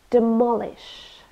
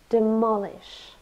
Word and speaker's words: demolish: refers to old people demolish three syllables demolish and we stress the second one demolish it's a verb it